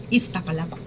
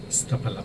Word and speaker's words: Iztapalapa: Iztapalapa. Iztapalapa. Pero es que es con Z, entonces hay que hacerle fuercita y creo que nosotros deseamos mucho.